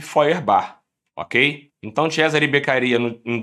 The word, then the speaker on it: Feuerbach: vai ser em Feuerbach, que se escreve Feuerbach, na verdade, com CH, tá? Se preparem para usar isso na prova oral. Então, fala Feuerbach, tá? Escreve Feuerbach, mas esse sujeito foi justamente